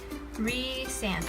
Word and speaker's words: Rhysand: Maybe you think her pronunciations are in here still. Here we go. Rhysand. Okay, it's Rhysand.